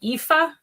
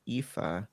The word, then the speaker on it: Aoife: Um, you could just call me EA. Rhymes with like FIFA, the football. Uh, yeah, it's good. Yeah. All right. So, for the Americans in the crowd, that's EA.